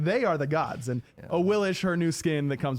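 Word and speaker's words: Awilix: Yeah, Wait, again, a Willix or Royal Willis? Champion. A willish.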